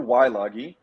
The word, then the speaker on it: Weilage: It's Weilage, which is the Americanized version of the German pronunciation of Weilage.